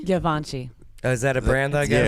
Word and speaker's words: Givenchy: Givenchy? Givenchy.